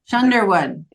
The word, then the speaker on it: Schoonderwoerd: like thunder. That's what I always say. Sherwood. Yeah, Shunderwood.